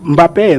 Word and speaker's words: Mbappé: Igual como chamam, muita gente chama Mbappé, né?